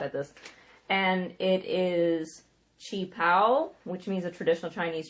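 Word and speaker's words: qipao: And it is Qi Pao, which means a traditional Chinese dress.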